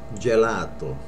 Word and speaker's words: gelato: A lot of people say gelato, which is right, but without the accent. It's gelato. Gelato.